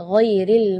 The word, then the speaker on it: ghairil: Di ayat ini yang pertama di makhraj huruf ghain ya, ghairil maghdubi ya, perlu diperhatikan bukan G, bukan huruf G ya, bukan ga, tapi gha. Jadi kalau ga itu dia makhrajnya dari lidah. Ya, tapi kalau huruf ghain itu dari bagian tenggorokan ya.